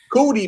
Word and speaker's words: Cootie: I think we all need to find us a Cuddy, man. That's Cootie, man. Cootie, man. His name is Cootie.